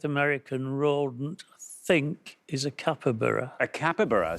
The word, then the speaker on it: capybara: Let's see how many of our 100 said capybara. It is right. And down it goes to 27. Very well done indeed, taking your total up to 46. Oh, brilliant. So, it's actually pronounced capybara.